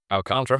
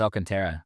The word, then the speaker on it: Alcantara: Then it up Alcantara, how do you pronounce it? Al Contra. Contra. I thought it was Alcantara.